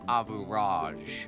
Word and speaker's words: Average: tricks the selfish Prince Average It's pronounced Avuraj.